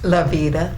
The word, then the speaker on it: LaVita: I always kind of pronounce her last name wrong. And what's your first name? LaVita.